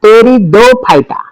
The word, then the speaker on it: Pteridophyta: Okay, division 3 को हम लोग बोलेंगे टेरिडोफाइटा। टी साइलेंट है, या मजाक कर रहा हूं, टेरिडोफाइटा।